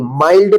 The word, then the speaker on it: mild: MILD, इसको मिल्ड नहीं माइल्ड पढ़ेंगे।